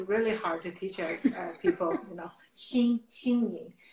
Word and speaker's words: Xin Ying: It's really hard to pronounce, but I try really hard to teach people, Xin Ying. Even it's spelled Xin, but actually pronounced Xin Ying.